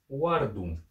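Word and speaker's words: wardum: ваканском это о который записывается как в английском буквой w и который по английскому всем и знаком но все-таки пример мы приведем слово uardum переводится оно как раб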